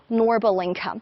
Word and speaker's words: Norbulingka: showing you this lovely park which we call norbal inca actually in chinese we say lua bulingka or